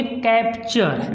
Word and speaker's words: capture: इसी प्रकार से जैसे हमने लिख दिया CAPTURE, इसको बोलेंगे कैप्चर। देखो यहाँ पे है TURE लास्ट में, तो बोलेंगे कैप्चर, कैप्चर, ठीक।